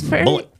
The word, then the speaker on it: Bullitt: Beast of bullet County it's bullet bullet number one with a bullet the beast but it's not spelled like bullet how you would think no it's got an IT T oh like um like the bourbon yes yes oh from